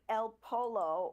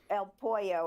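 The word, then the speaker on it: El Pollo: The former spy master of Venezuela, Hugo Carval Caral, aka El Polo or the chicken, El Poo is how it's pronounced. I said it wrong.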